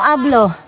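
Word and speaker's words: hablo: Pero nag-spanyol kaya ganito no I don't speak no ablo kay silent oo silent h basta ikaw habla habla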